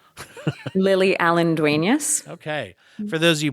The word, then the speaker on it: Lily Allen-Duenas: how did how do you say your name lily allendueneus okay for those of you podcasters out there